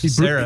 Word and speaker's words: Caceres: And real quick, your opponent, Alex Cacarequez, is that how you say his name? Caceres.